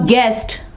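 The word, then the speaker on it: guest: इसके अलावा गेस्ट, गेस्ट, मेहमान। यहाँ पे देखें यू जो है वो साइलेंट है।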